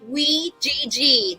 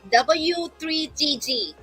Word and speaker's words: W3GG: read about us who are we actually it's pronounced as w g not w3g okay not work yeah it's w g all